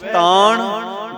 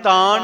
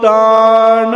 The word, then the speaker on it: ਤਾਣੁ: को तान होवे किस तान गावे को दात जाने निशान इथे आप ज उच्चारण करना है तान नहीं कहना नने दा उच्चारण उ नहीं होना चाहिदा थे नाना है नाना तान गावे को तान